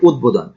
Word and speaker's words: উদ্বোধন: যেমন এখানে আছে উদ্বোধন, এই শব্দটি অনেকেই ভুল করেন, অনেকেই এটা উচ্চারণ করে উদ্বোধন, আসলে এখানে উদ্বোধন না, উচ্চারণ হবে উদ্বোধন।